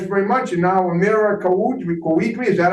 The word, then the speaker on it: Kouidri: And now Amira Kouidri, is that how you say it? It's Kouidri.